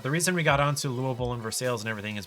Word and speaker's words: Louisville: Those are all pronounced Ville, to my knowledge, by Kentuckians. But no, it's Louisville. Yeah.